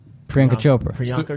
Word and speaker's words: Priyanka: And I had to bring up Priyanka Chopra.